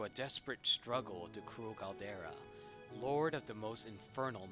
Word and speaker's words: Galdera: Yet one god, Galdera? What? How would you pronounce that? Caldera? Galdera.